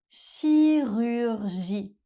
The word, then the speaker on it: chirurgie: Chirurgie. Dans ce mot, les lettres C et H font le son /ʃ/ C'est le cas la